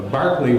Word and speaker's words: Berkeley: yesterday is that a Berkeley which is apparently the right anglo-irish pronunciation of his name is the the person